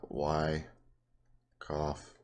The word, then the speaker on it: Wyckoff: to talk about this Wyckoff schematic it's called a I'll spell it out for you it's called why cough distribution and all it